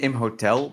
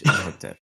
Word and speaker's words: Imhotep: Imhotep. Dismissal of Imhotep. I think we pronounced it wrong remove the whole H. episode. Have yeah, we? Yeah, you said Imhotel.